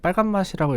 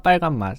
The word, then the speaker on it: 빨간 맛: 빨간 마시라고 제가 읽었는데 사실 가사에서 빨간 맛을 빨간 마시라고 읽으면 안 돼요 예 아빠 또 빨간마스크 오빠 빨간 맛 이렇게 입어야 됩니다 예 터 이 앨범이